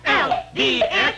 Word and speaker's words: Olds: O-L-D-S, that's Olds.